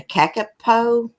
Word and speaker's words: kakapo: It's called a kakapo. That's what I was talking about. They look like massive budgies. Yeah. Yeah. How do you pronounce So that? funny. Yeah, it's a kakapoo.